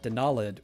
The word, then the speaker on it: Denalid: So, because I pronounce it Denalid with the emphasis on that second syllable, I capitalize the second syllable or put an accent mark or something.